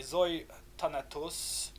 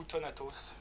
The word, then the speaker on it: Euthanatos: Une que j'aime beaucoup également est Zoe Thanatos, ou Euthanatos, vous pouvez le prononcer vraiment à la grecque stricto sensu.